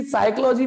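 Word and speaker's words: psychology: मैंने कहा था उससे कि साइकोलॉजी में पी साइलेंट है, साइकोलॉजी में पी साइलेंट है।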